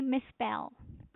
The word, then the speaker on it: misspell: The stress is on the second syllable. Please make sure you say misspell.